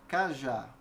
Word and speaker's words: cajá: é com a palavra cajá eu vejo é de acordo com a pronúncia eu percebo também que a sílaba tônica da palavra cá já é a última Então veja ambas têm